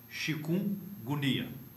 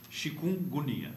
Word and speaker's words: Chikungunya: O nome dele é quase impronunciável para nós. Chikungunya. Tá. O mnemônio para gravá-lo é agonia. Chikungunya.